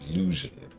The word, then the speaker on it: Lugian: Next one's Call, but that one was Lugen. It was pronounced Lugen.